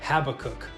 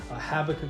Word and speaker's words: Habakkuk: And just had a quick little word I wanted to share with you out of the book of Habakkuk. Think that's how you pronounce it?